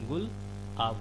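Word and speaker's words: Gulab: अब देखिए पाकिस्तान जब देगा नाम तो वो क्या नाम देगा, गुलाब, लेकिन प्रोनाउंसिएशन क्या होगा उसका, गुल आब होगा।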